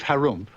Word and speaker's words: Harum: in the land of Harum which is pronounced like when you clear your throat there lived an ogre